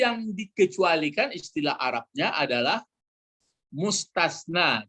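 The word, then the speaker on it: مستثنى: Lalu yang dikecualikan istilah Arabnya adalah mustasna. Jadi ini pakai sa dia. Mustasna, istisna. Dipakai yang satu lagi mustasna, pakai sin dulu ya. Baru tasna. Mustasna seperti ini. Mustasna dibedakan bacanya ya.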